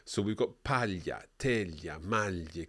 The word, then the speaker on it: paglia: So we've got paglia, teglia, maglie, coniglio, ciglia. Each time we're hearing that same y sound in there.